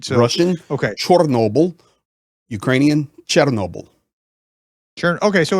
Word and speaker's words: Chernobyl: How would you pronounce So it in Ukrainian? Chernobyl. Oh, okay, so it's close. I mean, I didn't realize so it was that close.